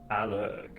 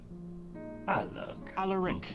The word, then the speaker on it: Alaric: Alec. Alaric is cool. Alug. Alaric. I'll try to remember. Alaric. Oh, that's more interesting. An extra syllable.